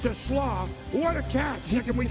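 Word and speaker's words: TeSlaa: It spelled like Tesla, but it's to Slaw.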